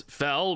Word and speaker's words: Fel: a four Mana spell it's fell believe it or not and it deals two